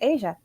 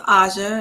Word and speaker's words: Asia: pass it on to Asia hi everyone um so it's pronounced Asha and it's perfectly okay